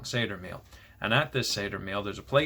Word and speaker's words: Seder: So it's called a Seder meal. I'm saying it wrong. Seder meal.